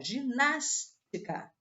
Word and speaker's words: ginástica: é oxítona não ó ginástica é uma palavra proparoxítona porque veja se eu separar a sílaba ess é a última ess é a penúltima e ess é a anti penúltima então é a palavra proparoxítona já posso eliminar a